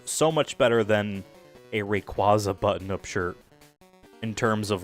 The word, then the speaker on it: Rayquaza: I don't care that Pokemon's trying to retroactively say it's pronounced Rayquaza. That's stupid. It's Rayquaza, just because that's how I said it as a kid, whatever.